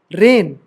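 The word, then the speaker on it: reign: आएगा तो साइलेंट रहेगा रेन ठीक है रेगन नहीं बहुत रेगन पढ़ते हो चलो अब देखते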